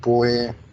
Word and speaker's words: põe: Ela põe, não, na poupança. põe no, é isso. Põe ou não. Põe no. Porque quando você pronuncia, o verbo é põe, ou seja, termina em som nasal, que aplica a regra